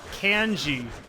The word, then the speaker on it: Kenshi: Until MK9, Kenshi was ass. Sorry, Kenshi. You might mistake I don't know why I'm calling him Kenshi. It's actually pronounced Canji, you know? Like, can you pass me a can, G?